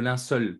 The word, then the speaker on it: linceul: le linceul dans le linceul pardon on m'a beaucoup appris sur ma prononciation du mot linceul j'ai tendance à dire l'un seuil mais ces linceuls on